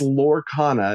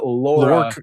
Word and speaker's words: Lorcana: Well, you you said Lorcana again instead of Lorcana. that how you say it? It's Lorcana, not Lorana.